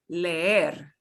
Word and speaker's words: leer: So this word highlighted will be leer. leer, Leer, right? There. Not leer, leer. leer, I will Leer.